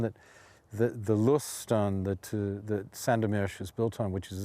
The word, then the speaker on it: Sandomierz: And, you know, hardly any of my Polish friends have even been to Sandomierz or Sandomierz, because the accent in Polish is on the second syllable, Sandomierz, or, needless to say, to the Pepper Mountains.